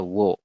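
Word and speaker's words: 워: o samping seperti ini Jadi dibacanya wo u dengan o dibacanya wo begitu ya untuk cara mengejanya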